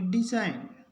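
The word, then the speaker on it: design: नहीं हो इसको पढ़ेंगे डिजइन उसके बाद आर ई एस आई जी एन इसके जी के बाद एन है तो जी का उच्चारण नहीं होगा इसको पढ़ेंगे रिजाइन इसके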